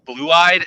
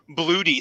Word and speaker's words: Blue-eyed: Did you know I never knew that your name was supposed to be pronounced blue-eyed until John said it? Just a fun fact. I always called him like Bloody Scorpio, and I was Bluto.